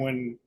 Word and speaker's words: Roy: with a rookie goaltender who ended up being a Hall of Famer Patrick Roy Patrick Roy W Patrick W I know it's w it's spelled Roy it's w he's Canadian I know